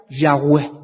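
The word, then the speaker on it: Yahweh: Y en hebreo se escribe y apúntenlo. H w h. Así se escribe y se pronuncia Yahweé. Así es como se pronuncia.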